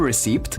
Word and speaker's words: receipt: Or kahit pronouncing yung P sa receipt. Diba? Ate, can I have a receipt?